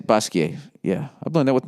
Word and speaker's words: Basquiat: that how you said basquiat yeah i've done that with my french studies you don't pronounce the t unless there's an e after it art world um i'm